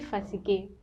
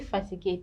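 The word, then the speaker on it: fatiguée: would be jesus fatigue but if he's a female you add an e to the back of the word which would be just to fatigue the same pronunciation just different spellings i'm tired now when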